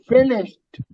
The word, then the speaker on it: finished: But when you say finished, that D sounds like a T.